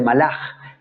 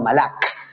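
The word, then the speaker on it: מלאך: caja casas o fit es una letra k pero que al final de palabra suena como una j por eso es que se dice málaga en hebreo y no malak aunque esa última palabra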